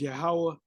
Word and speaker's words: Yahuwah: faith that faith that the way you pronounce the name is yahuwah and his beloved son's